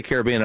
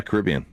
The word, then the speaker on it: Caribbean: do you say car Why do you say Caribbean Caribbean? cuz I say it like uh Billy Ocean Caribbean Queen.